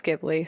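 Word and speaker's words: Ghibli: Don't remember if it's Gibbli or Gibli. I always interchange them, but you get me. It's like a studio. Is it Gibli? It's Gibli, says my assistant.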